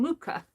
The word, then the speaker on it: Mucha: somebody gifted me these luca posters mucha you pronounce his name mucha and of course there somebody gifted these to